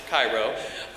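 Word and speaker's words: Chi Rho: its music and ministry throughout the United States pyro has also toured internationally in France and in a missionary role in Zambia the group's name which is pronounced Cairo is formed by the first two letters of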